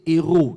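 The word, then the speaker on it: héraut: Mais dans les termes dans un terme royal royau, on l'appelait des héros des héroses. Donc des héros, ça s'écrit non pas comme héros, comme héros de la foi.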